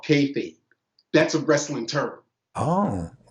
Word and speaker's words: kayfabe: The last DVD that he put out is called Kayfabe. That's a wrestling term. Oh, what's the term? Say it again. Kayfabe. It's spelled Kayfabe, but it's pronounced Kayfabe.